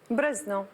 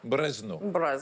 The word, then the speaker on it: Brezno: Comment on prononce Brezno? Brezno. Brezno.